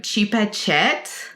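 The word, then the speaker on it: Chepachet: to the town of chipatchi is that right just say this native american name as white as you possibly can and that's how it's said headed to the town of chipachet very good to access documents and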